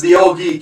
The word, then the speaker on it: Ye Old Geek: Yeah, Yogg is the old geek. He spells out his name Ye Old Geek, but it's actually pronounced the old geek, and that would be YOG.